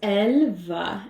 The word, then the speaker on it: Elleva: So it's Elleva, and why it sounds Elleva. French is elle is she, and va is will. So it translates to she will.